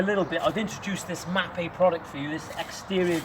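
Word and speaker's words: Mapei: bit I've introduced this mappe product for you this exterior grouting product you'll be able to check it out online mappe let go it's spelled m a EI you get it in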